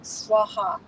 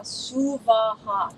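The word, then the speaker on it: स्वः: But normally they're pronouncing it Om Bhur Bhuva Swaha. No, please no. Om Bhur Bhuva Suvaha. 3 separate equal syllables.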